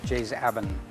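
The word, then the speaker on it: Jais Aben: Some people say Jaizaben, but the real pronunciation is Jaizaben, and it apparently is part of a local dialect.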